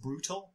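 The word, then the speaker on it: Brutaal: of them is named I I believe it's pronounced brutal but it's spelled b r u t a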